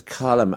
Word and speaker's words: Colm: Colm: "Well the first name is 'Cullum'. Irish people say 'filum'. English people are always laughing at us, saying 'have you seen any good filums recently?'. 'LM' gets a full syllable so it's Cullum, and the second name is